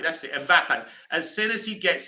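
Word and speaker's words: Mbappé: Mbappe, that's it, Mbappe.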